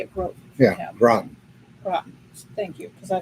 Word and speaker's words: Groton: Groton. Groton. Thank you, because I can never pronounce it.